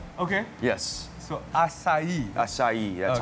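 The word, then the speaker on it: açaí: Cara untuk menyebutnya, it's acai. It's acai. Imagine the beer but without the H. Okay. Yes. So acai.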